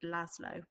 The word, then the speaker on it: Laszlo: you're aware that the main character is called laszlo that's how you pronounce his name so pause me whilst